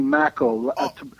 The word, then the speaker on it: Makow: And then my name is Maco. Maco. Rhymes with tobacco.